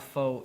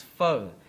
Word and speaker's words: pho: who doesn't like faux it's not po it's not faux it's pho so how you pronounce